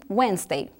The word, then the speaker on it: Wednesday: E para o Wednesday, como a gente já falou anteriormente, a dica é o D não é pronunciado, então Wednesday.